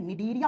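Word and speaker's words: Cnidaria: दूसरा जो फाइलम होता है उसको लिखते हैं सी से। प्रोनाउंस करते हैं। तो एन से करते हैं निडरिया फाइलम।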